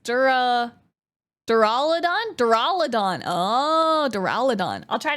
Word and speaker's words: Duraludon: Durudon. Duraludon. It's pronounced Dur Duraladon.